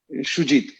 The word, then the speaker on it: সুজিত: Yeah, but actually Shujit, I think, is the right pronunciation.